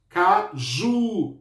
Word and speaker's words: caju: Caju. Caju. O ju é a minha sílaba mais forte. Então, em caju, qual é a sílaba tônica? O ju.